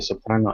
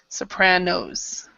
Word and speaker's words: Sopranos: where shows like the soprano and mad men have been popular okay so I'm try to remember also to pronounce the last s Sopranos Sopranos okay and number